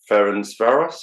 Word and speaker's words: Ferencváros: You were in Budapest with Ferencváros, is that pronounced right?